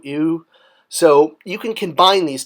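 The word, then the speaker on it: iw: You know an animal lying down, like the baby antelope, pronounced I-W, ew.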